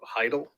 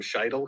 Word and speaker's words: Philip Heidel: of all this philip heidel i keep calling him scheidel because i need to pronounce the c it's hedley but that's okay but he